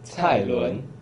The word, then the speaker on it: Cai Lun: So can you pronounce his name? It's Cai Lun.